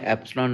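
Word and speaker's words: epsilon: Data page पे given होती है, 4 पाई एप्सिलॉन नॉट q1 q2 over r square.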